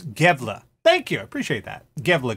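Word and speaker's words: Gävle: that think it's satanic pronunciation is gave 'la thank you appreciate that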